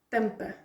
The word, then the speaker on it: tampa: você você me ajudava as palavras em português tem o estresse está na penúltima sílaba então tampa tampa Então mas uma palavra